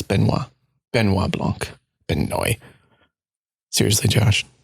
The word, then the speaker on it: Benoit: Sorry, it's Benoit.